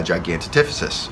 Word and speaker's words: Gigantopithecus: So one theory is it could be a Gigantopithecus, all right, or I believe that's how you